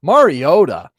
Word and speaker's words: Mariota: two-point conversion there, but Mariota, maybe I should be pronouncing that T a little bit more distinctly based on how Collinssworth kept hitting the Mario today.